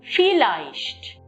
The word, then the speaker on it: vielleicht: In this one particular word, you can see two diphthongs, IE, EI. So, in the first syllable, you have noticed the diphthong is IE, where the sound of E is dominant. In the second syllable, the diphthong is EI, where I is dominant.